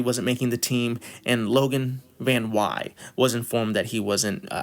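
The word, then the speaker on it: Logan VanWey: making the team, and that is how you pronounce his name to my knowledge. I looked it up, I did all the research. It looks like Logan Van Wy.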